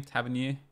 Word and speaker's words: Tavernier: Tavernier.